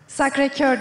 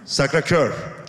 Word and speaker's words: Sacré-Cœur: Sacré-Cœur diye telaffuz ediliyor. Sacré-Cœur. Cœur, evet.